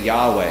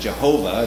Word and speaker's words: Yahweh: am or you know sometimes we say yahweh is is our way of pronouncing it and before people said jehovah and then they like realized you know what we maybe were pronouncing it wrong and actually based on the hebrew it's actually the proper way is yahweh is god's personal name